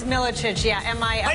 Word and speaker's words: Milicic: How did I pronounce Milicic? Yeah. Did I say it wrong? It's Milicic, yeah.